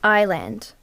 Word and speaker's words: island: It's Island. It's Island, I-S-L-A. It's a silent letter, Janet, like knee.